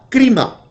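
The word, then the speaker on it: κρίμα: La palabra crino, como tal, tiene una variante que se pronuncia crima. K-R-I-M-A, crima.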